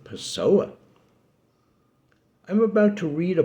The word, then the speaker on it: Pessoa: Furthermore, he spent most of his life in Lisbon, which sort of rhymes with person, but whose Portuguese name, Lisboa, sort of rhymes even more with Pessoa.